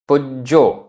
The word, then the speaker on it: पुज्जो: पूरा ज विसणिज्यो विसणंजो पुज्जो आधा ज पूरा ज पुज्जो पुजो जो गुरुव र